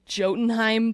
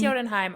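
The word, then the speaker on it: Jötunheim: of you guys too I said um jenim the first time I read it but my husband loves Norse mythology and heor corrected me saying it's probably not pronounced that way um but you all know that I can't pronounce for crap with I think it's yodenheim only because of that's what Thor says when in the movie Thor the feature film Thor the feature film yodenheim okay so then whatever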